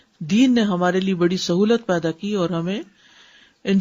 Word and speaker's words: سہو: بھی درست کر لیں۔ سہو جیسے لغو، ٹھیک ہے، کرب، نفس، سہو۔ سجدہ سہو کے اسباب،